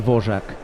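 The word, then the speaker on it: Dvořák: told me he said you're never going to pronounce this one correctly so just go with v v yeah got it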